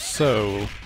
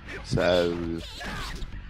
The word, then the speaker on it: Seoul: With a bit of an E sound before it, so it's Seoul. Seoul.